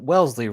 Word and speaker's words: Wellesley: Now, if we go back to Massachusetts, and you pronounce it Wellesley, right? That's how we say it?